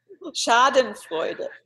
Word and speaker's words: Schadenfreude: Freudenacken or something like that. Schadenfreude. How do you say it? Schadenfreude.